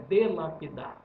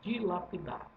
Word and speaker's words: dilapidar: A palavra não é delapidar, a palavra é dilapidar. Lápide significa pedra. Então, quebrada em dois é de sílaba, duas sílabas.